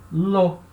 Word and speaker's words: l'eau: O A vai cair, certo? E là-haut, na verdade, a gente vai escrever e falar l'eau. L'eau, como se fosse uma palavra só. L'eau, a água, tá?